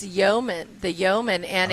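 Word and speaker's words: Yoeman: it's a yo it's Yeoman the Yeoman and it's not the Yeoman like on a ship it's spelled uh y-o-e instead of y-e-o yo baby well what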